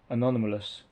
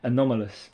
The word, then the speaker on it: anomalous: This is anonymous. I knew I'd say that wrong. Anomalous. It's an anomaly. Um, anomalous would be the right way to say it.